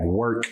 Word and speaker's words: Werk: jalil thurman corey before we get started into work universe and everything you got going on i